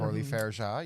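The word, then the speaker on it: Coralie Fargeat: Orly Fairja, yep.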